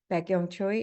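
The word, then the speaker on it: Baek-Young Choi: um my name is beong Choy it can look a little difficult but if you can remember like back to the young age BAC k then uh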